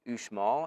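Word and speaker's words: Uxmal: small location known as ushmall i think is how it's pronounced um ux mal and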